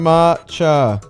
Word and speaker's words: matcha: Ma It's pronounced matcha.